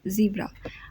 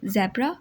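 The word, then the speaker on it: zebra: कैसे ठीक हैं कि अगर हम ब्रिटिश प्रोनाउंसिएशन की बात करें तो आप बोलेंगे ज़ेब्रा, और अगर हम अमेरिकन प्रोनाउंसिएशन की बात करें तो उसमें हम कहेंगे ज़ीब्रा। ठीक है, ब्रिटिश में ज़ेब्रा और अमेरिकन में ज़ीब्रा।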